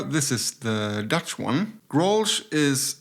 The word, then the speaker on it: Grolsch: We have Heineken, an international conglomerate that also owns a lot of other brands, and Grolsch, or Grolsch in the Dutch pronunciation.